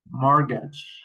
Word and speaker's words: mortgage: Castle castle Christmas passen listen mash mortgage nestle often. Okay, we don't pronounce the letter t in these words.